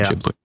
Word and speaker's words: Ghibli: to say it because I've just taught myself to say Ghibli, but that is the correct way of pronouncing Studio Ghibli.